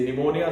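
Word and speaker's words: pneumonia: silent नहीं होते हैं फॉर एग्जांपल जैसे कि बात की मैंने साइकोलॉजी साइकोलॉजी स्टार्ट होती है पी से निमोनिया स्टार्ट होता है पी से बट यहां पर जो है साइलेंट है तो ये आपको सीखने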